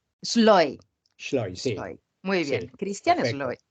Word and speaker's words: Schleu: Antes de proseguir, el primer misterio, ¿cómo se pronuncia correctamente tu apellido? Schloy, Sloy.